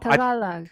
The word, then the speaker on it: Tagalog: Wait, how do I pronounce Tagalog? Tagalog.